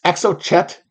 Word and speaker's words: Exocet: EXO shot is it I've never seen this pronounced I've already I've read it in a bunch of Tom Clancy books it's EXO Chet Airship or as MP